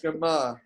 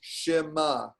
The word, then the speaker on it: Shema: So the sh, that's a shva sound. Oh. That's the sound it makes, Shema. Right? So it's not exactly it's not exactly a Shema. Right? Shema. So it's that very short, indistinct vowel sound.